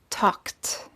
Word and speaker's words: talked: have the t sound if the last consonant of the word is voiceless then the ed is pronounced as a t be careful not to